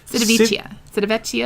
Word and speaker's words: Civitavecchia: Civitavecchia.